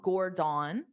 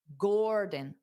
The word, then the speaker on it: Gordon: So it's not Gordon. That's not how you say his name. It's Dada, Gordon, Gordon, Gordon, Gordon, Gordon.